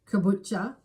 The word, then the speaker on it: Caboolture: Kabula. Yes. Affectionately known by locals as Cabo. Also sometimes pronounced kabucha.